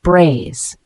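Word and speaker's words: braise: quickly in hot fat the word brace spelled b r a i s e it's a verb pronounced braze this means to cook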